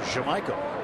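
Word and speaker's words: Yamaico: He has informed us he wants his name pronounced Jamaica. Even though turn the Y to a J, huh?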